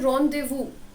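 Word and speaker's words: rendezvous: देखिए इसका प्रोनाउंसिएशन है रॉन्डेवू. ठीक है, इसका प्रोनाउंसिएशन है कुछ ऐसा, रॉन्डेवू. ओके, रॉन्डेवू का मतलब होता है अ मीटिंग.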